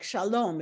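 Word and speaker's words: שלום: So like shalom, it's the last syllable, but what they're Most saying, words, you'll see, most words, it is that the default is the last syllable.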